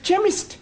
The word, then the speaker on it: chemist: begin with a k' it sounds like it begins with Ken see H that is making it chemist well the CH is